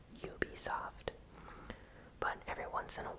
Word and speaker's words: Ubisoft: Ubisoft's, or Ubisoft's, it's a word that I slightly mispronounce sometimes. I know it's Ubiquitous Games, and it's supposed to be pronounced Ubisoft.